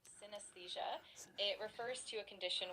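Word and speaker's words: synesthesia: The word is pronounced synthesia.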